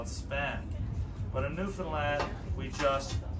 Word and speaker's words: Newfoundland: Now a scuff is a dance, and a Newfoundland blue star is a beer, and it's pronounced Newfoundland. Not Newfoundland, not Newfoundland.